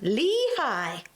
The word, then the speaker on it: Lehi: Lehi, as we were saying, is pronounced Lehigh. It's commonly pronounced with a long E sound followed by high. Crumbs. That's Lehigh!